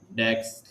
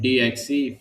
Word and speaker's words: DXE: The pronunciation is bit of Dex and Dix, but we call it DXE phase.